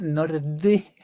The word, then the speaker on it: Nordy: siguiendo la pronunciación noruega, Nordi, como en la Nordi, Y, tal cual. no es la I latina.